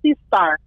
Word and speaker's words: Sistar: i'm sorry what now it's like sea star sea star it's sort of like it would be pronounced like that it's a it's it's a play on it's it's a play on sister right yes absolutely so